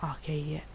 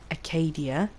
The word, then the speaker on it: Acadia: No, not Arcadia. Acadia.